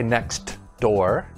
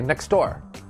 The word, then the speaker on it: next door: when the sound disappears you see a t or a d in a in a word but we don't pronounce it clearly for example the first one is next door but we don't say next door we say next door